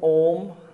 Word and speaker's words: Om: The second part of the Omkar on correct pronunciation is when you are saying Om, at the start, the shape of your mouth should be a big O.